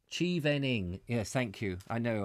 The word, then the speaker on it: Chevening: of chevroling chip i can't even carry on pronounce this chivalry what is this cheevening chivening yes thank you i know i'm struggling i'm